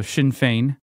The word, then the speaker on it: Sinn Féin: It's called Sinn Féin. It doesn't look like that, but that's because we don't know how to pronounce Celtic words. So Sinn Féin.